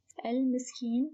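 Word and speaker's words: المسكين: Al-miskin, also a moon letter, mim.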